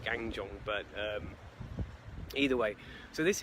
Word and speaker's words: Gangjeong: I used to say Gangjeong, but apparently it's pronounced Gangjeong.